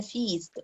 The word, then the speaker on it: feast: لكن الوليمة بنقول عليها feast long E.